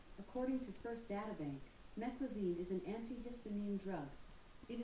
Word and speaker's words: meclizine: This is called Meslizin. Alexa, how do you pronounce this word? Meclizine.